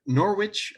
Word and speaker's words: Norwich: screening the Supernatural and she lives in Norway Norwich Norfolk did I pronounce that correctly yeah in the UK and